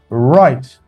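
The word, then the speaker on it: wright: For example, look right. W is silent.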